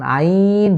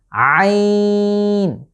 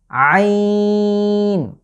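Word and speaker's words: عين: পরবর্তী লেটার হচ্ছে, আপনারা দেখতেই পাচ্ছেন, এর নাম হচ্ছে আইন। আইন। একটু যদি খেয়াল করেন, আমি কিন্তু কণ্ঠের ব্যবহার, অর্থাৎ কণ্ঠের ঠিক মাঝ বরাবর জায়গাটা ব্যবহৃত হচ্ছে, আইন, এবং কণ্ঠের চাপ পড়ছে।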